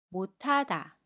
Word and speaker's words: 못하다: 하 로 발음 에요 그래서 못하다가 못하다 라고 발음합니다 세번째 경우 볼게요 모세